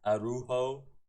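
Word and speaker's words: Araújo: Arujo, that's how you say his name.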